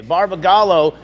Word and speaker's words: Barbagallo: do you say it Gall Gallo okay okay Barba gallo and there is a special paint Scheme going